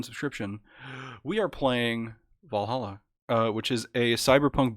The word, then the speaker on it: VA-11 Hall-A: this game because i've it's valhalla we're back with valhalla i've been saying va 11 hall a yeah no i tried